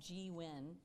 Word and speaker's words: gWEN: is the launcher founder of an organization called Gwen did I pronounce it correctly do you call it yeah